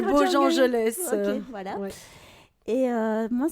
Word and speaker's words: Bojangles: Voilà, mais c'est En attendant Bojangles. Bojangelès. Merci, Soukaina. Je dis Bojangles, mais... c'est Bojangelès.